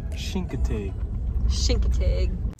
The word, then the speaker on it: Chincoteague: name of that no with a CH but you pronounce it with an sh so shinkate then we headed to